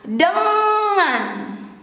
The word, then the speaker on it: dengan: The N and G here, It is similar when you have to pronounce singing, ringing, ing, ing, ing, ing, dengan.